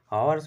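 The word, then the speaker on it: hours: का प्रयोग होता है आवर्स में एच साइलेंट होगा और ओ यू आर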